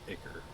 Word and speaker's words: ichor: Pretty sure it's pronounced Icker, but I could be wrong on that.